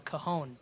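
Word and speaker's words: Cajón: And how do you pronounce it? Cajon.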